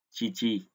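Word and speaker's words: 父: Ông Yomi của chữ phụ đọc là phư và âm cương là chi chi đúng không?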